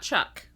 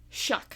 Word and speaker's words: Shuck: old shuck old shuck okay not Chuck shuck shuck like shucking an oyster okay I'm just making